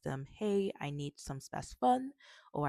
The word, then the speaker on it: Spasfon: But the main medication that I want to talk about today is called Spasfon. Spasfon, which is spelled s p a s f o n.